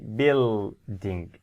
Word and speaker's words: building: in this world building what's this letter u u and what's the sound for this letter uh the sound is silent no sound for you so what do we say we see building you we don't say